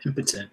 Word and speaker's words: impotent: That's how you pronounce it? Yeah, impotent.